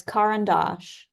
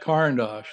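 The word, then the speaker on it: Caran d'Ache: crayons yeah because uh Sarah how do you pronounce the uh the crayon box what is that oh it's car andos caros that's right caros thank you so I'm going to do that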